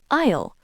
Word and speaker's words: aisle: Isle. This is a funny word. It's spelled a i l e, but we say isle. The s is silent.